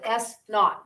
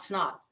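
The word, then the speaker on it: s₀: plus s naught and that's pronounced s naught not snot okay yes and this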